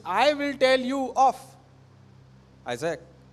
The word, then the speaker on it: Isaac: Help me with that word Isaac, okay? Because sometimes I pronounce that Isaac. It's Isaac, okay?